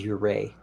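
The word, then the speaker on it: Ouray: his wife's name wrong but the chief's name is uray and so there's a town in Colorado called urray that's actually how I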